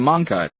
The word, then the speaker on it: Monqi: At the moment, you can buy the Monqi, pronounced Monqi, phone at the Carphone warehouse for £149 SIM-free.